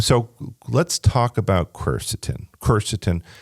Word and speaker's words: quercetin: word I stole it about 10 years ago cerstin so let's talk about cerstin cerstin it's spelled qu r c t i n right